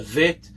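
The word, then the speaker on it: ב: no dot in it, that second letter, Bet, is pronounced as a B sound. It's never pronounced as a V, as nowadays it's become common to become with a dot it's a Bet, and without a dot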